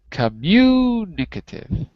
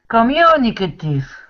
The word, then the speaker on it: communicative: us that is correct but the pronunciation is the pronunciation is communicative communicative that's it that's it so that's